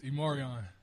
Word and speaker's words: E'Marion: It's Immoran.